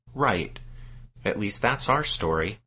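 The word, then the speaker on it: Raith: And Wright's name is spelled R-A-I-T-H, but as we understand it, his name is pronounced Wright.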